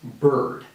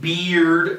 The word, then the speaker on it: bird: the same thing because sometimes that combination right there ir sounds like an er so the correct pronunciation is bird okay not something like beard or something like that